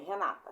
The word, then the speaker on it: Renata: Qual foi a sílaba que fiquei mais tempo falando? Não foi a segunda? Renata. Então, essa é a sílaba mais forte.